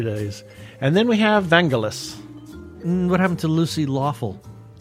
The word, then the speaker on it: Vangelis: And then we have Vangelis.